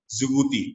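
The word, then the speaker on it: Djibouti: Ethiopia है, Ethiopia से अलग हुआ कंट्री है जिबूती, डी डी डी से शुरू होता है लेकिन डी साइलेंट होता है, जिबूती बोला जाता है।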